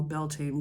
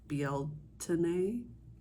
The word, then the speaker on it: Beltane: a YouTube channel that I'm gonna call Beltane Cottage but that is an incorrect pronunciation it's like BL tenae um that is a